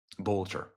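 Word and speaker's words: Boelter: Boulter.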